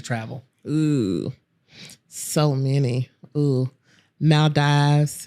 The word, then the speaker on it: Maldives: I say it right is it Maldives not bees yes Maldives that's awesome all right